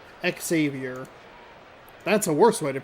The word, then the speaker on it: Xavier: Xavier. It's tricky with the X in front. Is it X or is it just like a Z, you know? Xavier.